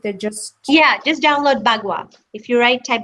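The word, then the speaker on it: bagua: in that okay and that is spelled b a g UA so that's b a g a u yes it's not pwa there's another word called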